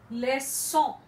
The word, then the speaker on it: leçon: Leçon, excusez moi, it's leçon, leçon, that is lesson. It's before an O, so it's pronounced as S.